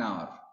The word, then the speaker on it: hour: H is not sound here. H is silent.